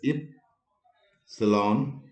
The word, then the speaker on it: epsilon: epsilon let me write this is to be pronounced as if salon and there is a